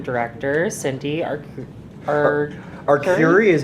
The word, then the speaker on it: Arcuri: we got a new District N director, Cindy Arcuri is how I believe her last name is pronounced. Anyone can correct me if I've got that wrong. Okay. So. Yeah, if She anyone. told me Arcuri. Arcuri.